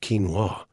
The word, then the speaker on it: quinoa: It's pronounced quinoa, and it's one of the most complete plant proteins out there.